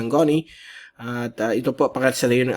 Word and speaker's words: Goni: Yan po ang pronunciation ng Connie.